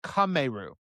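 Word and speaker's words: カメール: In Japanese, Wartortle goes by, it says right here, it's pronounced Kameru. That's not how it's spelled. It uses kame, which is the Japanese word for both turtle and tortoise.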